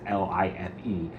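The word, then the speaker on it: Leif: uh if you're new, but um if my real name is pronounced life, but it's written L E I F.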